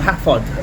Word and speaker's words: Hafod: It was called Hafod Railway Station.